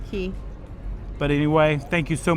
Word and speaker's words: Cay: Oh yeah, from Castaway Cay. Okay, So, I can do Cay that. Key. You tell me how you say it in below. Key.